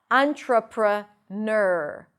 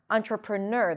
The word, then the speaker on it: entrepreneur: Entrepreneur. Entrepreneur. The primary stress is on the last syllable.